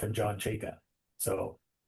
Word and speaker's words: Chayka: why I'm saying you better learn how to pronounce his name, because you're at worst you're gonna be saying F and John Chayka. So like so the Leaf fandom went from the pit of despair with this Chikra guy to a few hours later.